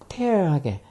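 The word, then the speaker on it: tear: 테어하게. 테어. 테어가 원래 이게 눈물이라고 티어라고 발음하면 눈물이지만 태어라고 이렇게 애 발음으로 이렇게 발음하면 이때는 찌다라는 줄 수다라는 동사죠.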